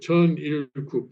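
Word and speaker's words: Cheon Il Guk: So here, for example, here again, this is a here Chun Il-kuk. This is the word Chun-il-kuk here. Okay. And Chun-il-kuk is composed of 3 syllables, obviously. Chun, Il, and Kuk.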